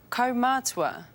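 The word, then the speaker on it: kaumātua: Komatsua.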